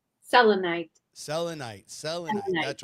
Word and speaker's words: Selenite: Selenite.